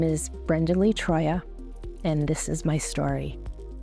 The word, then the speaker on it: Troia: hope lasting friendships my name is Brenda Lee Troya and this is my story hi everybody I'm sitting here with Brenda Lee Troya is that how you say it yes and